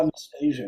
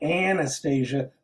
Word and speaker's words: Anastasia: into the film fun am i saying your name wrong is it anastasia i'm sorry all good oh anastasia not anastasia all right we're going to start over and